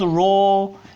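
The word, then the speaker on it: rho: And so you know this is the letter we call it's the Greek letter called ro and it pronounces like R. it, you know, looks like P but it pronounce like R.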